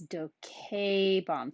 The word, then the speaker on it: docebam: Now for the second conjugation, it's the same, bam, bas, bat endings, but it's docebam. For the second conjugation, you have a long E here.